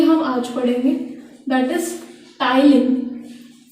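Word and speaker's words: ptyalin: Saliva में salivary amylase है, saliva में सलाइवरी अमाइलेज है, पर कौन सा अमाइलेज है ये हम आज पढ़ेंगे, that is टाइलिन। P silent है, the name of the salivary amylase is टाइलिन।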